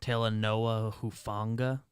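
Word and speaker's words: Talanoa Hufanga: trying to find a thing um it is pronounced tala noah who funga thank you went to the niners uh website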